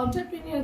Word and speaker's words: entrepreneur: तो एंटरप्रेन्योर जो है प्रोनाउंसिएशन इज ऑन्टर के ओ से प्रोनाउंस करते हैं। Actually first letter is starting from E.